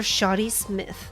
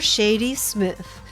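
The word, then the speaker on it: Shadi Smith: but with the victim Mr shoty Smith oh I guess it's supposed to be Shady Smith I just realized Mr Shady Smith I've been saying the name wrong this entire time your honor remember you'd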